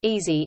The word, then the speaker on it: EASI: Engineering and Applied Sciences Interest House (EASI), the EASI pronounced easy, is a community-focused networking